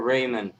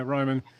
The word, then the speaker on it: Ryman: or Raymond? How do you say Ryman? I guess Yeah, Ryman. Ryman. No A in it.